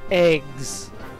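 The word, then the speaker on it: EGS: Next up we have, I swear to God, it's pronounced eggs. Like scrambled. I don't know how that translates as eggs. We'll go over what that stands for later, but that's how they say it.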